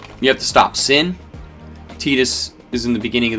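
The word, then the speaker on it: Tidus: Titus I've been told it's supposed to be pronounced tetus Yuna and tetus adorable just dynamic duo great characters um some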